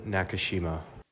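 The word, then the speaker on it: Nakashima: Brandon Nakushima. Brandon Nakushima. Crushed crushed that though. Uh so yeah, Medvade number one seed beat Nakushima.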